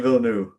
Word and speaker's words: Villeneuve: I can never know how to pronounce his Villeneuve, last name. Denis Villeneuve, I believe.